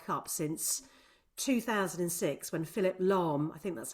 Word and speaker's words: Lahm: And that was the earliest opening goal of any World Cup since 2006, when Philipp Lahm, I think that's how you pronounce his surname.